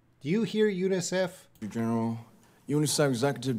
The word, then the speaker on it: UNICEF: General UNICEF executive director he's blending a little too much here he says Eunice he's you know in English we say UNICEF but he kind of says unizav ex units is blending UNICEF executive and I think he loses